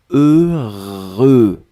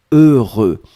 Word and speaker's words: heureux: prononcé deux fois heureux donc ne ne regardez pas le h ne regardait pas le x ne regardait pas le eu juste fermer les yeux visualiser c'est cette combinaison heureux heureux et après vous allez voir c'est assez facile à prononcer deuxième chose concernant ce